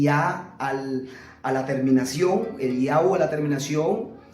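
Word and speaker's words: אליהו: Elías, no se dice Elías, sino Eliyahu.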